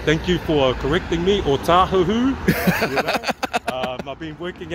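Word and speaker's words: Ōtāhuhu: O tahuhu. You know? I've been working out Howard too long. Oh, people, but yeah, pronounce it right.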